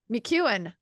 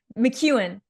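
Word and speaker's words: McKeown: McEwen. I've Yeah, said his yeah. name wrong for like 10 years.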